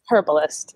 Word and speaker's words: herbalist: Herbalist, yeah. Herbalist, okay. And you pronounce the H in herbalist, whereas...